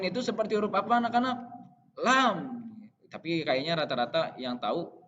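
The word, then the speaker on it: لام: Lam gitu ya. Lam, lam, lam, lam. Jadi diucapkan dari lidah yang bagian atas yang mau menyentuh gigi seri bagian depan.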